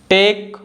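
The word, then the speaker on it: tech: According to the rule, the letter H is silent when it comes after the letters W, सी एंड आर। तो जो letter H है अगर डब्ल्यू, सी और आर के बाद आता है तो लेटर एच साइलेंट होता है, इसको हम नहीं बोलते हैं।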